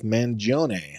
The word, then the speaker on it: Mangione: So he is of true Italian descent and calls himself Mangione.